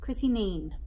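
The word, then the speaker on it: Kneen: Next up, I read another brilliant Australian book by Chrissy Neen. I think it's Chrissy Neen. I'm assuming the K is silent.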